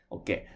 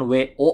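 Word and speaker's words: を: Oke. Dan untuk pengucapannya bukan wo, bukan wo, tapi lebih ke huruf o ya. Hanya o saja. Bukan wo.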